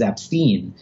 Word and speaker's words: Epstein: saying the name incorrectly the correct way to say it is AB Steen and so that's how